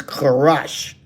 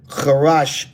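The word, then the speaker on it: חרש: again H2796 that's um it's a little bit different pronunciation in the modern that he's pronouncing it but it's karash karash in the ancient PaleoHebrew.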